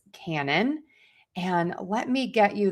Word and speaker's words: canon: So, these words are homophones and they are pronounced exactly the same way. And so, you can check out that video to learn how to pronounce canon.